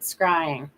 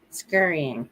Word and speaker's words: scrying: Yes, I just said it wrong, but you guys are right. Scrying. Scurrying. See, scrying.